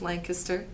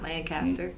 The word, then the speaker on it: Lancaster: So It's pronounced Lancaster, not Lancaster. And not Lancashire.